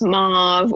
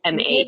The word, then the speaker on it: Maeve: Maeve, which people pronounce as Mauve or Maud. It's very confusing. It's not, I guess it's not that common of a name, but it's Maeve.